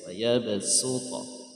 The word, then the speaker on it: يبسط: Ini dibaca sin ya, su ayabasu ya saya. والله يقبض ويبسط. Itu aja bacanya suta bukan so. Nah, jadi dibaca sin ayabasut.